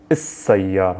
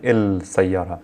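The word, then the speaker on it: السيارة: Sayyara, which means car, I'm saying is-sayyara, I'm not saying il-sayyara.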